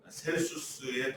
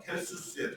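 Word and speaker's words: Celsus: 셀수스의 도서관이라고 하고 영어 발음은 켈수스의 도서관이라고 하는 그 도서관의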